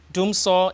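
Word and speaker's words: dumsɔ: or they say dooma so dooma is actually it's spelled D Ms o r doomsaw is actually a tree combination Doom for off so for on so Doom so yeah off on Doom so Doom so so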